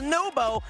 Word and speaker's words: Nwpo: He told us that Nubo. Naupo, NWPO is pronounced Nubo.